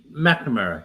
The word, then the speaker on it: McNamara: And so they gave me this guy's contact information, McNamara, or McNamara. I don't know how you say it for sure. No, that's correct. McNamara. Yes, that's right.